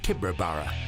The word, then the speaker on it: Tibooburra: The locals pronounce it Tibooburra.